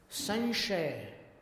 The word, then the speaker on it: संशय: संशय, कैसा उच्चारण हुआ? ञ जैसा हुआ, संशय।